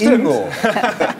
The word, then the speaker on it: Ingo: Nee, eine Nonna sagt ja immer Ingo, vieni qua. Ja, also die Betonung und vorne.